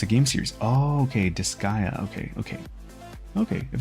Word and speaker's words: Disgaea: That's how you pronounce it. It's a game series. Oh, okay, Disgaea.